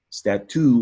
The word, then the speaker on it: statue: So over time, statue in French became statue. And it sounds like chew, just like statute.